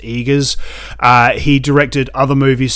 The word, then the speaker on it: Eggers: gonna butcher his name eagers eggers i think it's pronounced eagers uh he directed other